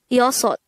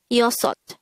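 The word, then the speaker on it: 여섯: Next, the native Korean version of number 6 is yosot. Again, yosot. This is composed of two syllables. The first syllable is yo, the second syllable is sot.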